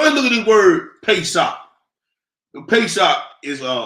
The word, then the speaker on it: Pesach: blue perfect so I look at this word pay sock the pay shop is uh uh Hebrew pronunciation of the word Passover it is a